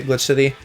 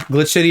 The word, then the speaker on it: Glitch X City: I assume you don't pronounce the X in Glitch X City and just say Glitch City.